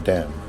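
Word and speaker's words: damn: Word M एन यानी किसी word के आखिर में एम एन आ जाए तो उसमें एन साइलेंट होता है। जैसा एग्जांपल में हम देख रहे हैं ऑटोमन कॉलम और डैम इन सब में जो है एंड पे एन जो है वो साइलेंट है।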